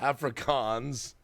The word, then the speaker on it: Afrikaans: how to speak African Afrikaans Afrikaans you got pronounce it properly Afrikaans Afrikaans Afrikaans but yes theoretically I could actually